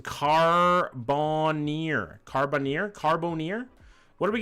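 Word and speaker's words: Carbonear: It's pronounced Carbonir.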